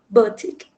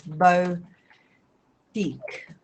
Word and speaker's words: boutique: pronounce the third one Boutique Boutique like this bow Peak Baltic oh okay what